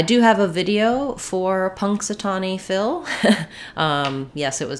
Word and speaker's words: Punxsutawney: fill in Punxsutawney um it's useful to know that that n is an NG sound just like we were just talking about so you have pong and then this x punks it's an S sound the a says uh the aw says Ah and then we would put the knee I would put the e sound there any y just says